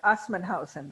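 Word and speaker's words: Assmannshausen: They're in a commune called, I'm going to slaughter it, Assmannhausen.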